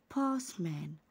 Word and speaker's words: postman: postman postman. هنا حرف ال او يعني ما بقولش عليه postman، يعني ما بقولش postman، النطق ده غلط، بقول postman. با يبقى حرف الاو مش هيتنطق وحرف التي برضو مش هيتنطق.